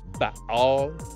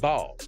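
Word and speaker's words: בעל: in the Elamite language, that word is spelled Bet Ayin Lamed, and it is pronounced Baal, or it can be pronounced Baal.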